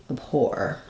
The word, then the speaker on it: abhor: a question about abhor um has second syllable stress so the or is the stress syllable and then this is the um a vowel but it's going to be very reduced so it might even be awah like abore abhor so thinking about it